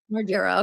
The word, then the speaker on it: Margera: Margera.